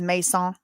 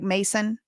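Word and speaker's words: Macon: Listen, y'all know the way to pronounce this technically is Mason, like Mason.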